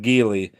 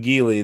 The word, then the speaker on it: Geli: It's the first time I've seen Giley this year. I think that's what how you pronounce G E L I. Gily.